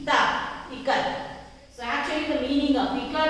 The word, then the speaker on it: Ikat: So pronunciation is I as in it. In it we pronounce I like E, not I.